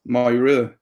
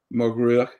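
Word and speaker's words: Mog Ruith: there's a fella called myra or muguruk depending on your dialect um who hailed from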